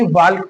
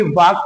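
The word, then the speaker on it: walk: silent ही पढ़ा जाएगा ल्क नहीं पढ़ा जाएगा चालक नहीं पढ़ा जाएगा और ना ही वाल्क पढ़ा जाएगा बल्कि वाक पढ़ा जाएगा चाक पढ़ा जाएगा टाक पढ़ा जाएगा इसको साइलेंट ही पढ़ेंगे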